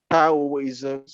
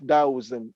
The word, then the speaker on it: Taoism: taoist of taoist because d in pinyin is pronounced like a t and the true exploration